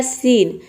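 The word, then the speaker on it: scene: तो इसलिए यहाँ पे देखिए, ई को हम प्रोनाउंस नहीं कर रहे और यहाँ पे एन को हम केवल ना प्रोनाउंस कर रहे हैं, केवल एन को। तो देखिए, ये हो जाएगा सीन।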